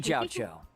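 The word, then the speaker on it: Jiaoqiu: And I'm Jiao Cho.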